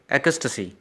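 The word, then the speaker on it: ecstasy: एकस्टसी, ठीक है, इस तरह से प्रोनाउंस करेंगे एकस्टसी। इंग्लिश डिक्शनरी है उसमें भी इसी तरह से प्रोनाउंसिएशन दी है, एकस्टसी।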